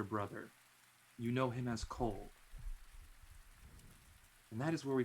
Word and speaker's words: Culhwch: For those of you who are looking at Cole, and if you want to know how to spell it, and for anybody's notes, it's CULHWCH.